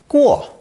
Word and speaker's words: 过: This character is pronounced fourth tone, guo, guo.